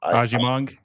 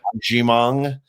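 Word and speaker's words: Agyemang: I'm not even going to try and pronounce his name. Ajimong. Yeah. Ajimong.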